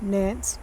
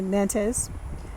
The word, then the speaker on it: Nantes: The same variety, Nantes or Nantes. I've heard it pronounced two different ways.